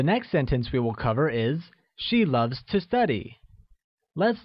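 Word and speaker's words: 爱: or love translates as I which is pronounced using a falling tone like I good to learn or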